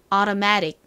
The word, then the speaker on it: automatic: 발음이 된다고 말씀을 드렸죠 그리고는 오가 아니라 어 어 이렇게 발음이납니다 그래서 한번 미국식 발음 따라해 볼까요 automatic 한 번 더 해볼게요